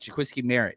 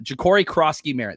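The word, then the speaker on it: Jacory Croskey-Merritt: I I think that he could be one of the Did I say his name right? I'm not looking at my notes right now. Uh Jakori Kroski Merritt. There it is.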